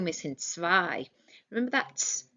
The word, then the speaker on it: zwei: So first of all, we've got a W missing, zwei.